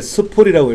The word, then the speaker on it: SPOOL: 이 스플은 SPOOL입니다. SPOO만 나왔는데 SPOOL 스플이라고 읽어요. 이거는 합성어예요.